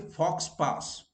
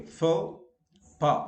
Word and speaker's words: faux pas: Where X is silent, faux pas. Okay, so you don't say fox pass. Okay, faux pas. Of course, S is also silent here.